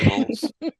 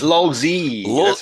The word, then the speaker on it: LOLZ: right this time Ben did I say LS no it's Loy is it Loy lo